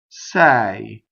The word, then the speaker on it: sei: Sei, you are. Sei, open E with a semivowel.